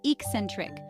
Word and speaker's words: eccentric: way the pronunciation is Ecentric with the stress on the second syllable use eccentric to describe